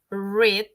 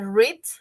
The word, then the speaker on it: read: En este caso, en presente se dice read, en pasado se dice read, ¿no? Como el color red.